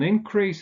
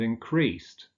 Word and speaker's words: increase: An increase in unemployment, but unemployment increased. So with a noun, the stress falls on the first syllable, with a verb on the second syllable.